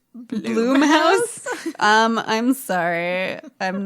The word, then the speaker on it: Blumhouse: hulu it is a plum house production it's pronounced bloom house um i'm sorry i'm